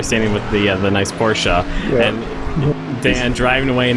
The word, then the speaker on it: Porsche: It is Porsche. Yeah, in German it's it's Porsche, but uh people do say Porsche.